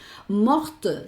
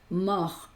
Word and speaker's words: mort: Pero en el caso de la T, mort no se pronuncia, morte sí cuando con el femenino.